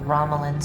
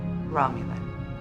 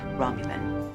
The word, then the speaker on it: Romulan: They say they've annexed this planet in the name of something called the Ramlan Star Empire. Romulan. It's pronounced Romulan.